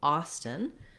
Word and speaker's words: Austin: Here we have the letters AU saying the ah vowel. That vowel and that first syllable is stressed. So again, ah is going to be long and stun is our same short combination that we had in Houston. So Houston, Austin.